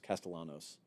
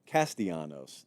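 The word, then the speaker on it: Castellanos: ear and corrected me I just know I said the name wrong castios the two L's the we don't like L's on the show we especially don't like back-to-back L's so FSU is kicking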